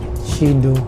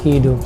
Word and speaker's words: Qidu: เฮ So pag pronounce pala makalagan is shido. Hindi siya kido kasi Q o yata. So hindi siya pag-pronounce na kido sa sa train is pagpronounce shido.